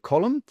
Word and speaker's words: column: And the last one here column okay N is a silent letter in the word column.